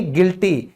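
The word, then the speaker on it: guilty: फिर दोषी यानी गिल्टी, यहां भी यू क्यों साइलेंट हो गया, यू के बाद आई आ गया।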